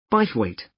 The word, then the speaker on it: Bythwaite: free and the show is being held in bythwaite Hall sorry how do you spell that b y t h w a i t e bite weight is it easy to find I'm not very